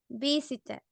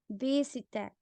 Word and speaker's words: visited: Yo qué sé, por ejemplo, visited, ¿ok? visited. Termina en T-E-D. So we say Ted, como el oso Teddy.